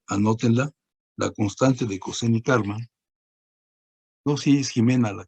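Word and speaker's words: Kármán: Y la otra C es de Karman, el segundo investigador, Karman, no Carmen, sino Karman.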